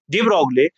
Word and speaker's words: de Broglie: तो सुने, 1924 में डिब्रॉय ने, प्रोनाउंसिएशन डिब्रॉय है लेकिन मैं पढ़ता हूं, आप भी पढ़ ले, ठीक, लेकिन पता होना चाहिए, डी ब्रोगली।